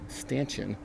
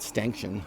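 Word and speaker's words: stanchion: There's a plastic sleeve up here in the top of the stansion, not stin. I don't know why I pronounced it that way in the first video, but uh there's a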